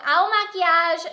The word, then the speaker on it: Il Makiage: on YouTube and find videos on how to pronounce it because it's kind of a long in a weird name so owl maquillage New York is the brand and this is